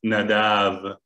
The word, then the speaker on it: Nadav: even pronounce the name nadav correctly uh when i was asking my my son how is your how is your friend and not after he said it's not enough it's nadav and so they they